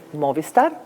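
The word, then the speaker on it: Mobvista: success here at nem you're representing your company Mo Vista did I pronounce it right very good yes okay so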